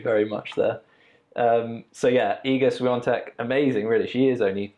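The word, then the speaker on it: Iga Świątek: So obviously we had Iga Swiatek, I think that's how you pronounce it, even though when you read it, it literally doesn't look anything like that. But who am I to say how you pronounce a Polish name?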